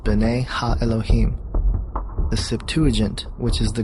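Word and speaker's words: בני האלהים: of God mentioned here in the Hebrew is pronounced Ben ha Elohim the Septuagint which is the Greek translation of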